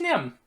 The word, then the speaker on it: Nim: So I'm just Nim. Nice to meet you. Nim. That's correct. Nim. Okay. Gotta remember that. Nim, it rhymes with limb.